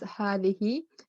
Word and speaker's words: هذه: It is pronounced as هذه, but the alif is omitted in writing.